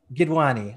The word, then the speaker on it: Gidwaney: Gidwaney, did I pronounce Gidwaney. That right? You got it. You just about got it. Well done. Gidwaney.